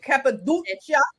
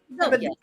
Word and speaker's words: Cappadocia: Cappadocia, did I say it right? Cappadocia.